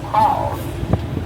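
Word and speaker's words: kraal: home to our turtle calls. Now, call is spelled K-R-A-A-L, and that is a Dutch African term which means pen or corral.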